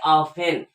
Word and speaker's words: often: तो यहाँ पर इसकी अंग्रेजी होती है सीधा ऑफेन, OFTEN की साइलेंट हो जाता है, उसको पढ़ेंगे ऑफेन।